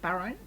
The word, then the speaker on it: Barone: Barone, is how you say it.